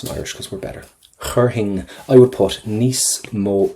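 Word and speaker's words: chuirfinn: Do not pronounce the F. Chur hing, right? Chur hing.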